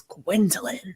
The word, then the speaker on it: Gwendolyn: love my name like I love all three syllables I just it's gwilin right it's like now